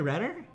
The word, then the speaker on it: Renner: Reiner? How do you say it? Jeremy Renner.